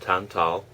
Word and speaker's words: tantal: So again, that's the uh Polish tantal uh t- a l. And I learned from some Polish people that that's pronounced tantal.